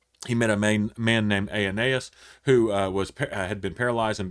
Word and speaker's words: Aeneas: I think Aeneas is how you pronounce that, is a pronunciation of that, and raises Dorcas.